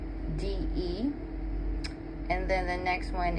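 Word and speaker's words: Babatunde: The famed African drummer Babatu, now I hope I'm saying this right. It's Babatundé. And then the next one is, I believe, Olatunji. I'm gonna spell it out.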